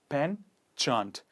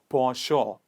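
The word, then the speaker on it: penchant: is not been chant a lot of people pronounce this word as pen chant it is not panchant it is pronounced as por shaw please repeat after me for sure it basically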